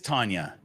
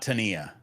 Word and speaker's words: Tanya: Okay, so Tanya, it is Tanya, not Tania.